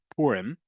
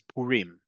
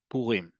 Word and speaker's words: Purim: is Purim, understand that in Israel, in modern Hebrew, the pronunciation is Purim. Okay, even if you can't pronounce Resh or Resh, Resh is fine. but the emphasis is on the last syllable, Purim.